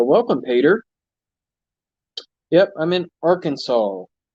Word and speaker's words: Arkansas: Peter yep I'm in Arkansas some people like to pronounce it or Kansas which is not how it is pronounced okay got a scrap